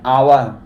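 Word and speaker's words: hour: तो एन आवर यहां पे एच साइलेंट है। जो हमारा साउंड निकल रहा है आवर।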